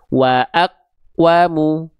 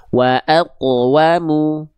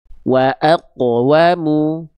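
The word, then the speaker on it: وَأَقْوَمُ: Jangan sampai teman-teman lafalkan seperti ini. Wa aqwamu. Nah, itu kan qf sukunnya betul-betul tidak ada ee tidak ada pantulan. Nah, maka ini keliru atau kurang sempurna. Tapi pantulkan dia.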